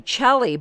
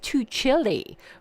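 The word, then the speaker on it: Tuccille: and I said to Chely but here it says it's pronounced too chilly oh he's very chill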